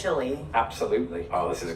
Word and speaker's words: Chile: Well, it's Chile because it's the place, Chile. But if you were to eat chili, that would be chili.